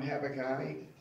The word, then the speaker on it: Habakkuk: This is what Habakkuk said. You want to call him Habakkai? Spelled the same way.